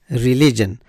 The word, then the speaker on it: religion: pronunciation is a religion religion so the stress is on the second syllable and the third syllable